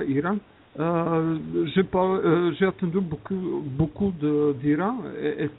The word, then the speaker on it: Iran: Ça se prononce ça, Iran.